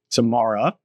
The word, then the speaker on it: Tamara: listening at home who are telling me I mispronounce it. So, we're here at Permanent Vacation with Tamara. Tamara.